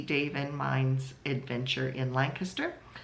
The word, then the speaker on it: Lancaster: Lancaster Pennsylvania but if you say Lancaster people look at you funny so you have to say Lancaster and then they know what you're talking about it's just a local way of how people pronounce it around here so so if